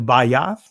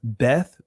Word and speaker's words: Beth: So the Bayath in the Israeli language is pronounced Beth, but we focus on the ancient here.